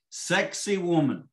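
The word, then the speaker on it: Sacsayhuamán: me do i apologize sexy woman that's the way that is pronounced in local dialect i'm assassinating it because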